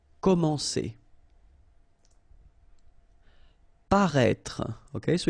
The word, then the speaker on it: paraître: Paraître, okay, so if you remember from the first video, then we had as well this accent circonflexe on the top of E here, but then you don't pronounce it, okay, so you should write it definitely, because you know that's the correct way to write it, but then you don't pronounce it. Paraître, okay, same thing, final E is not really pronounced, so paraître.